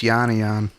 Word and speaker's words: Yanian: If anybody didn't know how to pronounce his last name, Yep. now you do. It's Yanian.